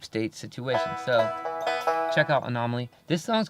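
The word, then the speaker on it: An0maly: Zer m l y anomaly anyway it's spelled with a zero there's no o in there it's anomaly with the zero um he's great he's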